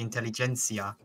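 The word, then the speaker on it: intelligentsia: been pronouncing that wrong it's not the intellig it's the intelligencia close enough listen guys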